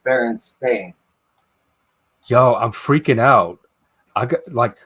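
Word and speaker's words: Berenstain: I got fooled by that one too it's Baron stain listen I remember specifically I was in a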